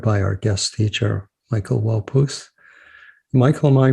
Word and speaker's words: Waupoose: which was guided by our guest teacher michael walpouth michael am i pronouncing your name correctly absolutely okay great yeah